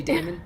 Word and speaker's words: Damon: pronouncing it different ways I say Damon like Matt Damon okay Damon all right